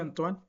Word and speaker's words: Antoine: Se escribe así, pero era francés, se pronuncia Antoine.